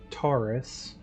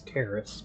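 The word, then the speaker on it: Taris: So last time we confronted Taurus. I always keep mispronouncing it as Terrace, but the former Romulan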